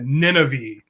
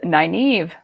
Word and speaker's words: Nynaeve: I always, in my head, I turned this into Nineveh, which it's not even phonetic, but Nineveh was what I always said. And you can tell us the actual name. It is Nynaeve. Nynaeve. But I always called it Nineve.